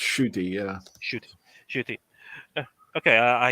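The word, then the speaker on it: Ncuti: all right uh yeah apparently the english silence pronounced shooty yeah should shoot okay i i like i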